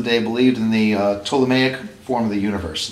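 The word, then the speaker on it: Ptolemaic: you who seen it it's got this little silent p in the front the toic view of the universe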